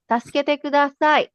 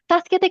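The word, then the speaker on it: 助けてください: E K U D A S A I Taskete is help me okay help Tasket okay mamaya explain ko pa um or ngayon na taskete kudasay is help please when you are in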